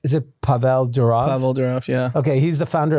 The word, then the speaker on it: Pavel Durov: So, I don't know how to pronounce Is it Pavel Durov? Pavel Durov, yeah.